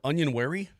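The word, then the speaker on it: Onyenwere: off my tongue I was working on it onion wary it's not an easy one still my favorite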